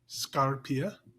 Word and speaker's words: Scarpia: yes so the uh the stress is at the beginning of the word and not in the middle that's all okay scarpia we'll pretend like I